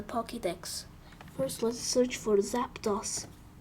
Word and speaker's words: Zapdos: First, let's search for Zapdos. Or Zapdos. Because Dos is pronounced like this.